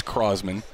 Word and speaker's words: Crosman: Crossman so you'll get it you'll get it pronounced both ways it is Crossman cause there are actually some large customers of